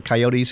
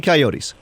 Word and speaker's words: coyotes: to buy Michael's book understanding coyotes or coyotes however you want to pronounce it depending on where you live in the country it's uh understanding coyotes the comprehensive guide for